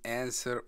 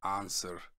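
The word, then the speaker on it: answer: यह है, उसकी प्रोनाउंसिएशन दो तरह से होती है, एंसर एंड आंसर। एंसर American है, आंसर ब्रिटिश है।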